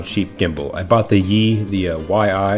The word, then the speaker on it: YI: I bought the YI, Y-I, it's pronounced Yi, I think.